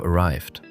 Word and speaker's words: arrived: Arrived, realized, grabbed. Ah, yes. That flows much more naturally than trying to put a sharp T sound at the end of arrived. It blends directly into the next word.